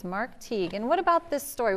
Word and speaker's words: Teague: And to help kids know what it sounds like, he says it rhymes with league. And it does. It does rhyme with league. So it's Mark Teague.